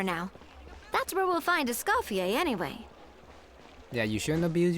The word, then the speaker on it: Escoffier: Find escafier. Treasure the ball. Okay, that's how you pronounce it.